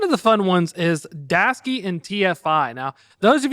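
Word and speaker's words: Daseke: If you don't know who Dasky is, they also have a YouTube video because I called him Daseki. I apologize. It's Dasky.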